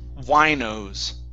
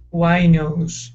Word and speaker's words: winos: up is this word here the word is pronounced winos winos why nose okay it has to do with people who